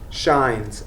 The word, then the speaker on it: Shines: Okay, say it again. Shines. SHINES. Like the sun shines.